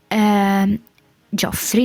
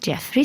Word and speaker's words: Joffrey: I made a room for Cersei's sons, so Cersei's children, so Tommen, Jeffrey, Joffrey, not Jeffrey, sorry, and Miss Myrcella, or whatever that name is pronounced.